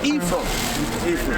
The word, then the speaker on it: Ephraim: Yeah, it's pronounced Ephraim.